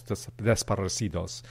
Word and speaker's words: desaparecidos: recent history that I wasn't familiar with called desaparecidos.